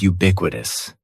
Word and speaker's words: ubiquitous: The first word is ubiquitous. And ubiquitous has 4 syllables. That first syllable is just like you're saying the letter U. Ubiquitous. And the stress is going to be on that second syllable.